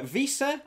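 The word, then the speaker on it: Wiese: in this game uh visa i believe is the pronunciation a couple people were very helpful in the comments last week helped me pronounce who i think i called vice i think i said last week but visa the number eight um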